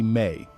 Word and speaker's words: me: The Sumerians had a word mi pronounced roughly may.